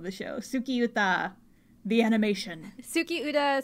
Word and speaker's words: Tsukiuta: show sukiyuta the animation tsuki UDA spelled with T s-u-k-i-u-t-a so it's not s it's like moon song